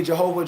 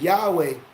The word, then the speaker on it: Yahweh: see uh they say jehovah gyro but it's not a j it's pronounced it wrong is yahweh gyro el elyon you